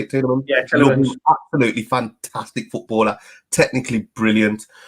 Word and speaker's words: Tielemans: Yeah, Tielemans.